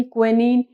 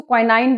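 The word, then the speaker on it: quinine: For making rubber, टैमिन, क्विनीन, गम। तो कई लोग इसको क्वाइनाइन बोलते हैं, कई लोग इसको क्विनीन बोलते हैं, तो अपने आप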